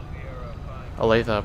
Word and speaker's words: Olathe: But we do have the Olathe Police here.